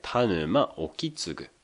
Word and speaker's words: 田沼意次: これは「田沼 Okitsugu」と読みます。